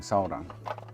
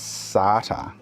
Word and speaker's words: solder: How do you pronounce SOLDER as SARTER? Genuine question. SATA, solder. was watching someone today or yesterday, they actually read out the word solder and pronounced it as SATA.